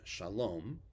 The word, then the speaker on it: shalom: pronounce the way yiddish speakers pronounce them so shalom becomes sholem shabbat becomes shabbos by